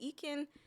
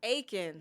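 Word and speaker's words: Eiken: Is it Ekin? I want to call it Ekin. Ekin? Aiken? Aiken. Yeah. Okay. Still got it wrong.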